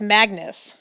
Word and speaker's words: Magnus: annoying name to have people tended to spell it Mingus which rhymes with Angus I always corrected them no it's Magnus rhymes with swag ness at which point they